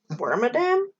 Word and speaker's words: Wormadam: bermy bernie sanders uh wormadam yeah i i used to say worm adam but i like worm and better than mother vc i mean yeah